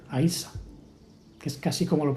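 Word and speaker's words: Íosa: Ishu es también como se le llamaba en latín, Yesu, y luego en gaélico se escribe Iosa, pero se pronuncia Aisa, que es casi como lo pronuncian los árabes, ¿no?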